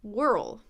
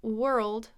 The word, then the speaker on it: world: I am being silly world so even though world has an O are spelling and worl has an ir spelling it's the same sound just like ER teacher world or world